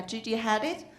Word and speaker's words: Gigi Hadid: So the Gigi Hadid, I pronounce well? Yeah, Gigi Hadid, ranked #1.